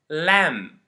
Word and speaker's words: lamb: the first case is when it comes after an m at the end of a word like bom Dum lamb and the second case